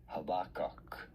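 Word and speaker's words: Habakkuk: Habac. I do want to stress on the second syllable the bar syllable habak habak of habak habach habak.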